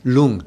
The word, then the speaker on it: Rlung: Rlung. You go ahead. Rlung? Lung. In Tibetan. R-L-U-N-G. So R-L-U-N-G. R is just, I just throw in there because... the R is silent. Lung.